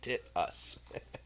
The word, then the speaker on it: Titus: It's pronounced tit-us.